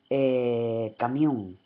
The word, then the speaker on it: camión: Por ejemplo, camión, ¿de acuerdo? Camión lleva acento en la O.